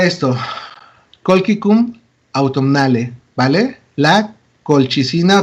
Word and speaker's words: colchicina: La colchicina o colchicina. Recuerden que la CH muchas veces en este contexto de latín se pronuncia como una K, del español.